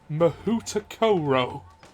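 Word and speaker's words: Mahoutokoro: Rowling thing, but she, for the Pottermore thing, had a Japanese school called, and this was the pronunciation that was given, Mahutakoro.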